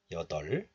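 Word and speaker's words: 여덟: And this is pronounced as 덜, 덜. So we pronounce this like 여덜.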